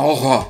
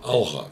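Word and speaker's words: Алға: Так как говорить правильно, как правильно, Алга Казахстан или Алха Казахстан? Ну, конечно, Алга. Алга. Алга.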